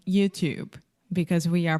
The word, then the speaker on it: YouTube: say you you perfect YouTube YouTube so the last sound is the B sound there is no e at the end in writing there is an e but in speaking the E is silent YouTube YouTube okay so